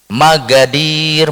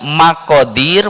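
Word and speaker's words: مقادير: Itu dulu kita tentu pernah mendengar itu tulisannya itu bukan magadir tapi maqadir. Maqadir ya qolbi tapi bacanya magadir. Magadir itu tulisannya qo tapi bacanya ga.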